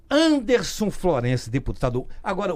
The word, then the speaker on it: Wanderson: Chama-se de, então muita gente chama de Vanderson, mas a pronúncia correta, né, familiarmente, né, intitulada é de Anderson Florencio.